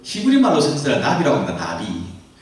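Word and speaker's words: נביא: 나비. 나라랑 나비 말, 발음이 똑같은 나비입니다.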